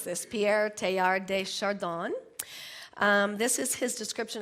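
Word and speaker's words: Pierre Teilhard de Chardin: I I listened to this on how to pronounce this Pierre tar de shardon um this is his description of how new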